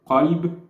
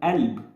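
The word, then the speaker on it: قلب: So a lot of words that use this letter, qaf, instead of actually pronouncing qaf, we replace it with like an apostrophe, or you know that sound, And languages are weird.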